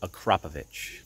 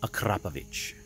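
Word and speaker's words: Akrapovič: And by the way, yes, that is actually pronounced Acropovich. If you want to get technical, it's Acropovich.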